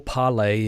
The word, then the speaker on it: Parler: Okay, on Monday, that would be today, the social media site Parler, or Parlay if you need to say it like that, filed a lawsuit against